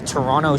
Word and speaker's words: Toronto: And here is Toronto Street. Notice that I haven't pronounced the second T. That's because that's the incorrect way.